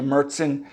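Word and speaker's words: Märzen: know the Oktoberfest traditional which is actually a mertzen that's how you pronounce it m-a-r-z-e-n which is the little darker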